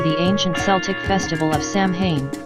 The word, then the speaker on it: Samhain: date back to the ancient Celtic festival of Samhain pronounced so in The cells who lived 2,000 years ago in